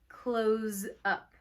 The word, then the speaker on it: close: But you pronounce it with a Z, close up.